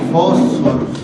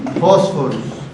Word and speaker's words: Phosphorus: La pH en latín se pronuncia F, por eso no decimos Phosphorus, sino Phosphorus.